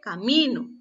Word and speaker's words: camino: La primera dice caminó, la segunda dice camino.